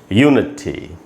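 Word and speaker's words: unity: यूनिटी नहीं बोलना है, या बहुत लोग ऐसे ही बोल लेते हैं यूनिटी, यूनिटी, तो हम नी पर स्ट्रेस डाल रहे हैं, तो सब गलत उच्चारण है, यू पर स्ट्रेस है, यूनिटी।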